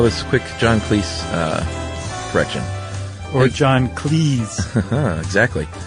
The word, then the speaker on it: Cleese: He noted that his name is pronounced to rhyme with cheese rather than fleece. In fact, his surname was originally Cheese, but his father changed it to Cleese.